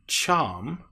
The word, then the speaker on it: charm: And the next is R, the AR sound, R.